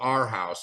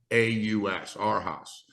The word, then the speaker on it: Arhaus: But today, what we're seeing is, for example, there's a store out there called Our House. It's spelled ARHAUS, Our House.